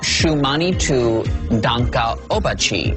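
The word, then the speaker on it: Šuŋgmánitu Tȟáŋka Ób'wačhi: is Dances with Wolves how do you say it shumani to Danka obachi Dances with Wolves all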